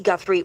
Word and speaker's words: Guthrie: There was a hater who was making fun of me saying I was saying her name wrong. You know, people are going to say this, that, whatever. So, Nancy Guthrie, there you go.